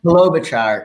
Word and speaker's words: Klobuchar: Klobuchar kind of way.